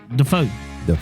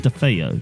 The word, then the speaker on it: DeFeo: It's pronounced Defeo. Defeo. Why did you say Defeo? Defeo. Because it's the way it's spelled, and I pronounce everything.